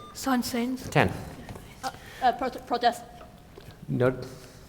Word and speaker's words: Saint-Saëns: It's supposed to be pronounced Saint-Saëns.